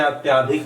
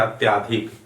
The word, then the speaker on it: अत्यधिक: जैसे अत्याधिक हम लिख देते हैं या बोल देते हैं, उच्चारण करते हैं अत्याधिक, तो शुद्ध इसका क्या है? अत्यधिक होगा। क्या होगा? अत्यधिक।